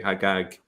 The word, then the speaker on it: Hajjaj: Hagag is the Jewish version of that, and it's still pronounced that way, Hagag, in some Arab countries, such as Egypt.